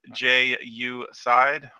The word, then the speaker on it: Jeaucide: many many years ago I'm Ju side pronounced Ju side call me for